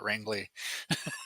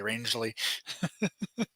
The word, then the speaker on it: Rangeley: so funny for me to hear everybody call it wrangly when it's actually rangeley there's a town near